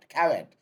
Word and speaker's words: caveat: The pronunciation is, it varies, but you say caveat, C-A-V-E-A-T, caveat emptor.